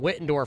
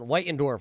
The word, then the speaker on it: Whitendorf: And we got to apologize for calling him Wittendorf for the last couple of weeks, race fans. Our great pronunciation around here. But John Whitendorf is able to win